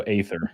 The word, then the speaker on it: Aether: All right, well, she's saying 1, so Aether.